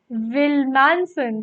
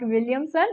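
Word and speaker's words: Willmansson: It is indeed Wilmanson, right? It is a Scandinavian, it is a Swedish name. It is Edla. Oh my god, it is Edla Wilmanson, right? That is how they spell it. Again, keep in mind that it is not Williamson, it is Wilmanson, alright?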